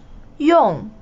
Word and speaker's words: 用: 用. To use. 用. To use. Fourth tone, yeah.